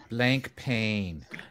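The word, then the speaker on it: Blancpain: actually pronounce this brand the french way is you don't pronounce the c no you don't pronounce the c or the n block block man blank pain i always thought it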